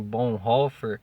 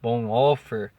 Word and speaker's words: Bonhoeffer: trick bom reiffer né alguns dias sem dizem bom fer bom offer mas eu gosto da pronúncia de bom reiffer né é de trick